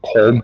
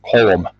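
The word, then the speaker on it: Colm: Irish all says like no it's not col it's colum yeah but but you know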